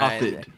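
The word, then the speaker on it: Dafydd: Daffid. And that affair starts to happen. Think David, but with an F. Yeah, Daffid.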